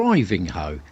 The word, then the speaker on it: Ivinghoe: Or Ivinghoe, as I now know it's pronounced.